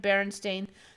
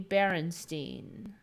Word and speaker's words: Berenstain: adaptation series were produced using a pronunciation of berenstain that could easily be misinterpreted to be berenstein okay so yeah no